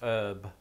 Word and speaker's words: herb: There was a slew of words that entered the English language via Old French that incorporated a silent H. This included honour, hour, hors d'oeuvre, and yes, herb. But Brits just stopped pronouncing it herb in, I want to say, the 19th century, because it was soon considered the way commoners spoke, and the upper classes can't be having that.